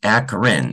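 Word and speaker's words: Akron: States and New York and in aarin it's pronounced aarin even though it's spelled akr o n I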